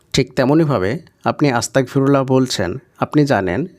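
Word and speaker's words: أستغفر الله: বাক্যের শেষ করবেন তো শেষে যেটাই থাকুক না কেন সেটা সাকিনে পরিণত হবে। অর্থাৎ হাই এর উপরে যাবার জের, পেশ যাই থাকুক না কেন সেটা কিন্তু সাকিন হয়ে যাবে। তাই এটার উচ্চারণ হবে আস্তাগফিরুল্লাহ।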